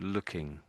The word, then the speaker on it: looking: syllables a little bit and the last time perhaps a bit too fast so looking looking and And I guess you're missing out the NG bit.